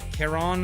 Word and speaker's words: Karen: Karen, For me, rhymes with Baron.